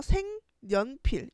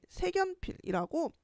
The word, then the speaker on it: 색연필: 실제 사례로 예를 들어보면은 색연필이라고 하는 글자는 니은 첨가가 일어나서 색연필, 이로 인해서 비음화가 일어나서 생연필 이렇게 발음하는 게 맞는데 많은 친구들이 색연필이라고 연음을 하게 돼.